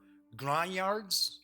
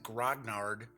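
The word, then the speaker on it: grognard: war gamers who are Grande yards isn't that the pronunciation Grande yard for years I've always said grog nard yeah well as I say English is my kind of well I treat English as if it's a second language but I believe the French pronoun French pronunciation has grown yard so which is weird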